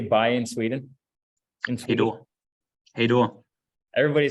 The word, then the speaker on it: hej då: Hej då.